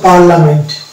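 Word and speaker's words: parliament: তো এটার উচ্চারণ হচ্ছে পার্লামেন্ট। পার্লামেন্ট, এই জায়গাটাতে আমরা দেখতে পাচ্ছি যে আই এর উচ্চারণ হচ্ছে না, হ্যাঁ, সোজা এ এর উচ্চারণ হচ্ছে।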